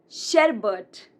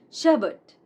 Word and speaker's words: sherbet: Now, it's not sherbet. It's not sherbet, but sherbet. Sherbet.